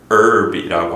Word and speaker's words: herb: channel from French, and the original French influenced pronunciation was herb, so that's what we use in America.